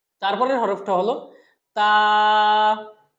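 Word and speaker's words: تاء: বা, তারপরের হরফটা হলো তা। তা, তা হরফটা যখন আমরা উচ্চারণ করব তখন জিহ্বার আগাটা উপরের দাঁতের গোড়ার সাথে লাগিয়ে আমরা বলবো এবং এক আলিফ টানবো।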